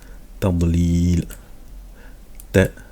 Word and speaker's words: تضليل: Tadlil. Donc c'est la lettre dod qui va se prononcer comme ça lorsqu'elle a une soukoun. On dit pas tadlil. C'est pas tadl, mais tadlil. Voilà, on fait gonfler la